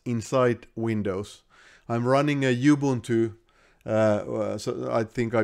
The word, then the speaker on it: Ubuntu: have a linux inside windows i'm running a ubuntu so i think i mispronounced that it's uh supposed to be just ubuntu but ubuntu release of linux here and uh